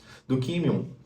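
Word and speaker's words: δοκίμιον: A palavra provação vem do grego e é pronunciada do químion, usada na metalurgia no sentido de testar a autenticidade de um material usando fogo.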